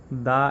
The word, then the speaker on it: the: যদি ভাওয়েল হয় তাহলে দায়ের উচ্চারণ হবে দি, আর যদি কনসোনান্ট হয় তখন এটার উচ্চারণ হবে দা। ভাওয়েলের আগে দি অ্যান্ড কনসোনান্টের আগে দা।